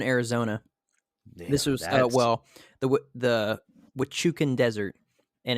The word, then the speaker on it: Huachuca: Damn, this was the Huachucan Desert, and it's spelled Hauchuca.